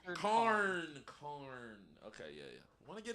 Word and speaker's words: Karn: Oh, Karn. Richard Karn.